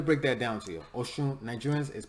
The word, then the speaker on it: Oshun: Oshun, Nigerians is pronounced Oshun. Oshun, excuse me, I'm butchering it.